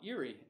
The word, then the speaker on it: eerie: Wow, eerie. It's funny, it's spelled eerie like Lake Erie from the Great Lakes in North America.